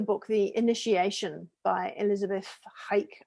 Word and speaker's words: Haich: You remember how you and I read the book, The Initiation by Elizabeth Haik, I think is how we pronounce it, because she was German.